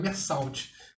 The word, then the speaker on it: Meursault: Se escreve Meursault, mas se fala Meursault.